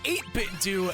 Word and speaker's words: 8BitDo: he says it's pronounced eight bit do as it as like scooby-doo for the do part so it's 8-bit dude